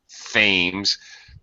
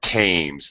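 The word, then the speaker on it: Thames: is what you're pronouncing themes frankly I pronounced it that way for many years being a an American but it's actually the tames they actually pronounce it as a t not a th but the answer is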